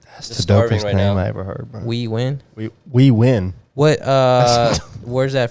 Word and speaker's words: Huy Nguyen: We're here with Huy Nguyen and our special guest here, Huy Nguyen. Did I say it right? Yes, sir. All right, how you doing, bro? I'm doing good. Say it one more time again. Huy Nguyen.